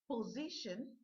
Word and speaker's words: position: So, how many syllables have the word position? Po, z, shin. Let's look at the word again. Po, z, shin. So you heard the ending part, the suffix here says shin.